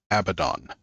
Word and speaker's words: Abaddon: It's actually a Hebrew name. It's Abaddon, not Abaddon. It's Abaddon.